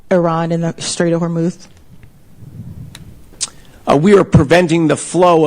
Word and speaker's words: Hormuz: Are we talking about the axing or the way she pronounces Hormuz? Axing Hormuth.